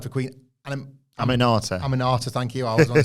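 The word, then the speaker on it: Aminata: this wasn't a bad night I can never pronounce the name this wasn't a bad night for Queen and am anata am anata thank you I was to say animata this wasn't a bad night for amata like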